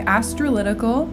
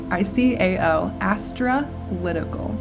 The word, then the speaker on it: Astralytical: Astrolytical is spelled ASTRALYTICAL. Astrolytical.